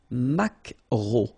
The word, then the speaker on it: maquereau: So technically this K, just pronounce it K. Mac. Macro. Macro. Alright? And then E, A, U. Remember when you combine these three vowels, you get the sound O.